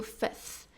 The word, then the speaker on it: fifth: o fourth e o Fifth ok de novo first second Third fourth Fifth Fifth não Fifth fif esse F meio que é mudo aqui tá ele nem ele nem aparece então fif então primeiro segundo terceiro